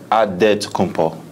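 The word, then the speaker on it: Antetokounmpo: how you pronounce it in a real way you got a say with a D so it's odd dead to come Paul but in the Greek way you say with the NT like answer to come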